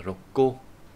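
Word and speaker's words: 六個: Đọc là rokko.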